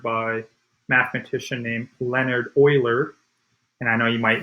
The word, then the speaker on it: Euler: this was discovered by a mathematician named leonard euler and i know you might want to say euler that's how we would pronounce it typically but it's actually pronounced euler and this is called euler's number and it